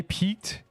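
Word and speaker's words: piqued: It's spelled peaked. It's like this. You say peaked. It piqu your interest.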